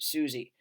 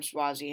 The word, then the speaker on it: Suozzi: former US Representative I okay I know someone in the comments is going to say no you pronounced it Suzie I always thought it was Tom suie until like a week ago when Tom swazi himself was on CNN and said that and said his name I was shocked anyway